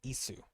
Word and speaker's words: Ys: it's pronounced Isu. I'm playing those games right now on the first game, but I figured out that's how you pronounce it, Isu.